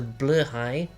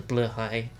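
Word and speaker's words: Blåhaj: is what's known as a blur High I'm 80% sure that's the correct pronunciation it is a Ikea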